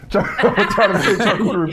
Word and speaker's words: charcuterie: charcuterie board.